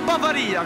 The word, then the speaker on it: Bavaria: ma varia ma noi la pronunciamo bavaria con l'accento sulla lì magari a parte anche